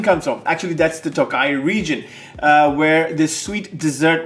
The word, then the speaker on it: Tokaji: Even if it's phonetically spelled as Tokaji, it's pronounced Tokaji.